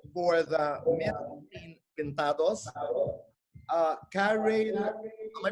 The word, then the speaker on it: Kareyl: But it's spelled Kareyl. But it's not in the spelling, it's the pronunciation, so it's Kareel.